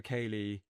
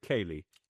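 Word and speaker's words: ceilidh: So you pronounce it Kaylee? Kaylee. Kaylee. I pronounce it how it's pronounced, yeah.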